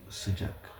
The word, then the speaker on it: sıcak: Alors, le chaud, ça se lit sıcak. Sıcak. Le froid, ça se lit soğuk. En prononce, on dit soğuk.